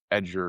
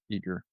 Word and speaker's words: Eager: Wade, I don't want to mispronounce his last name. Wade Eager, thank you. I don't want to pronounce his last name Edger or something like that. It's Eager.